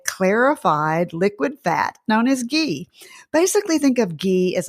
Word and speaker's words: ghee: Spelled Ghee, pronounced ghee.